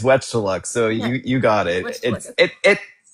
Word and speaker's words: Wechtaluk: I appreciate the concern on it, but no, it's Wet to look, so you you got it.